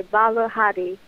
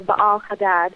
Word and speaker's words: Baal Hadad: and smites all of Baal Hadad. I should say Baal Hadi or Baal Hadad, however you want to pronounce it. Both ways are technically correct depending on the language.